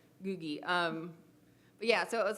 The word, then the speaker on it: Googie: Some people say googie, some people say, I've heard goji, but I've always said googie.